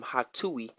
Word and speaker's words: Hatuey: Coincidentally, folklore actually says that his name, Hatui, which is spelled Hatuey, is actually a way of blowing someone off, right?